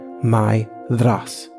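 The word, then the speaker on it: Maedhros: is pronounced something like Myas with the accent on the first syllable and a voiced th as in bother there upon or loathe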